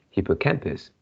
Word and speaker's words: hippocampus: Yeah, but just now you pronounce hippocampus. Yeah, so maybe yeah, just now I didn't pronounce well. Oh, Yeah, so it is hippocampus.